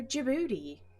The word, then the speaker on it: Djibouti: means checklist of lockheed d is for djibouti the boat race begins